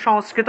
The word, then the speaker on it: সংস্কৃত: উচ্চারণ হবে এটার সংস্কৃত এই সংস্কৃত শব্দটাকে আমরা সংস্কৃত ভাষায় কিভাবে উচ্চারণ করব সংস্কৃতা সংস্কৃতা সান সংস্কৃতা সা উচ্চারণ হবে সা ঠিক আছে সার